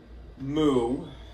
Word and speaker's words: mu: Mu, which is pronounced essentially mu, mu.